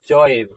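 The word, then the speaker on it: चैव: और इसका उच्चारण पृथ्वी, और यहाँ पर होगा चौएव, चौएव, इस तरह से उच्चारण क्या होगा, चौएव।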